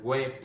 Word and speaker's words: quê: Ok, mình phát âm chính xác là quê. Ok, nhưng mà một số bạn là quê.